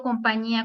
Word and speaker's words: compañía: Por ejemplo, compañía, ¿cuál sería la división? Compañía. ¿Cuántas sílabas tiene? 1, 2, 3, 4 sílabas. ¿Qué es? Su sílaba tónica va en la última penúltima. Compañía. En la ñi.